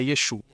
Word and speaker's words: Yeshu: No entanto, a pronúncia Galileia é sem o aim. Então, o último a é omitido.